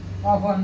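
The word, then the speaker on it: often: ऑफन means क्या होता है, अक्सर प्राय। अक्सर प्राय, ऑफन मीन्स अक्सर प्राय। अब इसको ऑफ्टेन मत पढ़ना, ठीक है।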